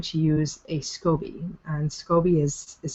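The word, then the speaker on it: SCOBY: then you're going to use a scobby and scobby is is spelled s c o b y and that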